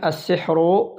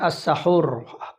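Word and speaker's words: السحر: Sebelum kita masuk di situ, maka Syekh bin Baz mengatakan as-sihru, sihir itu adalah bikasris sin, dengan mengkasrahkan huruf sin, yaitu as-sihru. Ada kita membacanya as-sahur, as-saharu, as-saharu, as-sahuru, as-sihru. Ini sebenarnya sama ya, dari huruf sin, ha dan ro. Maka yang dimaksud di dalam penjelasan kita adalah dengan mengkasrahkan huruf sin, as-sihru.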